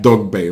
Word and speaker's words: Dogboe: Bay and he said the G and the B should be pronounced together it gives a heavy B sound so that is it